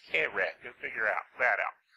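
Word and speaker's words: קרב: It's actually transliterated Q-U-R-E-V, but it's pronounced kereh.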